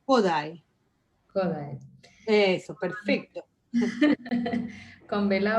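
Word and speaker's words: Kodály: En realidad es en la primera letra porque todas las palabras húngaras son esdrújulas. Entonces es Kodai.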